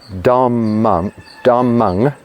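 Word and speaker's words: dhammaṃ: If there's a dot under the M, it is pronounced ng, N-G, ng. If there's not a dot, then it's pronounced M. So with dhammang, there's a dot under the last M at the end.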